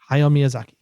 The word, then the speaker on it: Hayao Miyazaki: And Hayao Miyazaki should absolutely win for it. How do you say that again? Hayao Miyazaki.